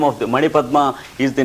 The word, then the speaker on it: Manipadma: the syllables and sounds Manipadma. For example, Ma is 1 syllable, N is the 2nd syllable, Pa is the 3rd syllable, DMA is the 4th syllable.